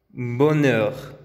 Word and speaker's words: bonheur: Feliz, felicidad, bonheur. Ahora vamos con la letra U. La pronunciación de la U con labios redondeados siempre